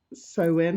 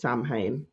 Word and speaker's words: Samhain: too much for you to fit and edits sew in no it's spelled and how it sounds it's s-a-m-h-a-i-n is a Celtic word sew in salmon it's not pronounced pronounced Sam Hayne it's pronounced because you know the the Celts